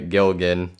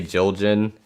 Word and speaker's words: Gilgan: was your last name uh gilgan but it gets people say jiljin and all this crazy stuff yeah and i've heard